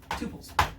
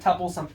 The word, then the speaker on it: tuple: So let's say written as T-U-P-L, tuples. Some people pronounce it tuples. I guess I say tuples.